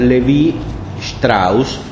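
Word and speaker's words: Lévi-Strauss: sentido más estricto es claude lévi strauss astros según se pronuncie de manera alemana o francés tiene libros famosos como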